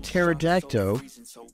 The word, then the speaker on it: pterodactyl: can't you hear a pterodactyl go to the bathroom it's because the p is silent how do you make